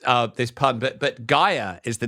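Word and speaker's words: Gaeya: sorry about this uh this pun but but Gaia is the name of the musical artist this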